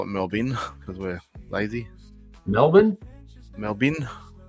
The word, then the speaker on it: Melbourne: like to call it we just call it melbin because we're lazy Melbourne melbin melbour melb but yeah obviously pronouncing it correctly mbor um that's only about